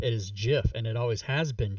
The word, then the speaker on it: GIF: you have always been wrong it is not gif is jiff and it always has been jiff the people